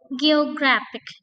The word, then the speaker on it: geographic: Contoh dalam kata eh geographic. Nah, ini penekanannya atau stressingnya the syllable before ending. Ya, jadi endingnya ini pada kata atau pada syllable sorry pada syllabel eh ketiga yaitu gitu ya. Maka em penekanannya adalah pada syabel before ending.